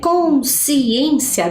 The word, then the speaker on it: consciência: Quando eu falo, né, consciência, dá a impressão que é o si, né, que eu tenho que separar. Mas não, é cons.